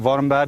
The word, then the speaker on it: Warmbad: Is it Warmbad? Have I pronounced that right?